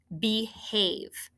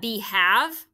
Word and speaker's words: behave: a word e now somebody said isn't that b have but remember have has that e it's a closed syllable or i'm sorry a vowel dash e exception because of it can't end with a v but this is also pronounced this part of the syllable is have long a all right one